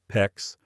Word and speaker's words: PEX: You are standing in the plumbing aisle staring at three different types of PEX, PEX, rhymes with flex, tubing, and they all look almost identical.